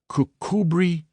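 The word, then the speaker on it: Kirkcudbright: and his name and style being the honorable Kirk Kudbright Eanover Major Bank Sellers Viccount Berkeley of Chanderlay Castle Warwickshshire pronounced Cubri Thin Landover Marshbank Sellers Viccount Barkley of Chumley Castle Warikshire.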